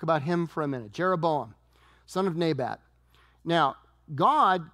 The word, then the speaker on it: Jeroboam: him for a minute jeroboam son of nebat now God came to jeroboam It's pronounced yeram in uh in Hebrew but he comes to